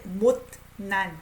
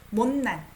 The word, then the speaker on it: 못난: 그때 내가 이 못난, I pronounce it as N. It's hard to say 못난, right? 못난. 못난 자존심 좀 버릴걸.